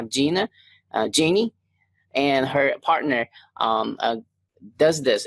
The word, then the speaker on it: Jeanne: My name is pronounced Jeanne. I know it looks okay. Okay, sorry about that. But it's actually a French word, and we just say Jeanne.